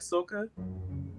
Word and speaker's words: soca: You like soca?